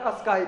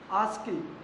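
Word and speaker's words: ASCII: लेकिन इसका सही प्रोनाउंसिएशन क्या होता है दोस्तों, आस्की। क्या होता है, आस्की बोलते हैं इसको, आस्की नहीं बोलते हैं।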